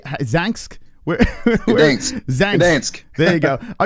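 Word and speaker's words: Gdańsk: Gdansk.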